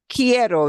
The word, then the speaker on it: quiero: And I want you to remember that this form here sounds like the word key. It starts with like the word key that you use to start your car. Yeah. So the sound will be quiero. There, the U doesn't make a sound because QUI, key, quiero.